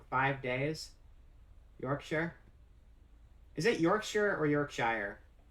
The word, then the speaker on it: Yorkshire: not supposed to be it's supposed to be just like one syllable figured out how to